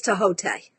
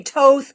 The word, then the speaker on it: Thoth: I believe the Egyptian pronunciation, this is for Serena, I believe the Egyptian pronunciation of Crowley's deck is Tahote. No one ever says it, though. They say Toth, Thoth, Toth.